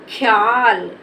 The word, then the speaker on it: ख्याल: इसको क्या पढ़ेंगे ख्याल अब खा के उच्चारण में हमें ज्यादा समय नहीं लगा और इसके इसमें आ का आ की साउंड का उच्चारण भी नहीं हुआ तो इसको क्या पढ़ेंगे ख्याल ख्याल अगर इसको ख्याल पढ़ देंगे तोय हमारा गलत हो जाएगा तो इसको हम पढ़ेंगे ख्याल क्या पढ़ेंगे आप भी